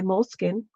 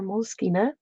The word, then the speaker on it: Moleskine: Um, Today I thought I'd do Flip Through Friday, and this is in my moleskin or moleskina, however you want to pronounce it.